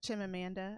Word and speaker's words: Chimamanda: Chimamanda. I think is how you pronounce her first name.